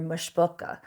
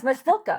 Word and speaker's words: Mboka: know that you're you're mush boka or whatever forgive my pronunciation but they'll be it's mboka I'm like oh well